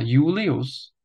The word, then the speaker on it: Julius: i Čteme jako i Ale na začátku slova Julius to i Čteme jako J Julius všimněte si také konců